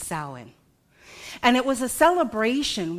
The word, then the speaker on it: Samhain: So it looks different, but it's actually pronounced Samhain.